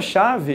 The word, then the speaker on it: chave: essa palavra chave ou seja a palavra chave eu tenho cinco letras mas conto quantos fonemas somente quatro foram umas porque o h não faz um som tranqüilo a palavra fixo